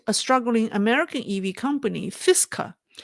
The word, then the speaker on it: Fisker: struggling American EV company fisa am I pronouncing right FIS Fisker Fisker they is yeah according